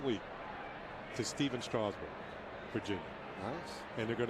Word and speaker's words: Strasburg: And that's how the Nationals say pronounce his name, like straw. Straw. Steven Strasburg.